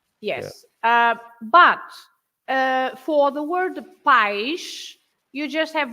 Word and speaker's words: país: But if you say país, then you put the accent on the I to split the 2 syllables.